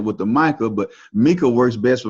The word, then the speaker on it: Micah: I pronounce it Micah.